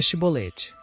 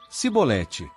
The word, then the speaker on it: Chibolete: lhe diziam por favor então nos diga chibolete mas ele dizia digo sim sibolete essa palavra era utilizada pois os efraimitas não conseguiam pronunciar a palavra corretamente então o agarravam e